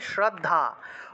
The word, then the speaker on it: শ্রদ্ধা: তারপরে श्रद्धारूपेण सर्वभूतेषु, या देवी सर्वभूतेषु, তারপরে শ্রদ্ধা, শ্রদ্ধারূপেণ, ঠিক আছে, দয় ধয় শ্রদ্ধা উচ্চারণ হবে শ্রদ্ধা, উচ্চারণটা হবে শ্রদ্ধা, শ্রদ্ধা বললে হবে না, শ্রদ্ধা বলা যাবে না, বলতে হবে শ্রদ্ধা, শ্রদ্ধারূপেণ সংস্থিতা নমস্তস্যৈ নমস্তস্যৈ নমস্তস্যৈ নমো নমঃ।